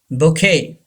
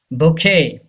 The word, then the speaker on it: bouquet: brusha brusha number four bouquet bouquet Q gives the sound cup and T is silent bouquet say this word